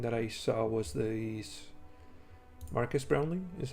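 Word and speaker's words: Marques Brownlee: Um, the other thing that I saw was the Marcus Brownley is how you say it, but uh, yeah,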